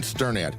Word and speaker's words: Sternad: Hi, I'm Sternad and you pronounce my last name like you are stirring a pot.